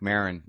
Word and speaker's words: Maron: And then he looks up, and we start, and he mispronounces my name right out of the gate. Marc Maron is a podcast. I'm like, Maron.